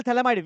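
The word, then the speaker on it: Phthalimide: ये इसको बोलते हैं थैलेमाइड। क्या बोलते हैं? PHTHALIMID, ये थैलेमाइड।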